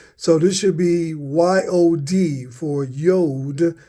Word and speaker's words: yod: from the Greek the is supposed to hold the Y sound as the yod so this should be y o d for yod not J